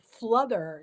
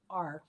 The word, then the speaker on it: fluther: And another one of those poems about a word I like is called fluther. It's spelled Fluther.